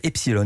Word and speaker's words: Epsiloon: euros 90 chaque mois epsilon avec de hauts mais ça se prononce quand même epsilon et puis une nouveauté